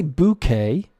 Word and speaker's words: bouquet: occasion and this is bouquet you can say bouquet or you can say bouquet both acceptable a bouquet would be more proper pronunciation I think because it comes from the French into English and we haven't